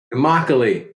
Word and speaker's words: Immokalee: Josh is originally from a small village in Florida called, Josh, help me out with the pronunciation. Immokalee. Immokalee.